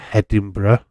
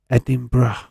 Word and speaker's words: Edinburgh: Came from Edinburgh, hence why he was a Hibernian fan.